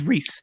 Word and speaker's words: Rhys: Yeah, for Rhys, anyone who's asking, my name is pronounced Rhys.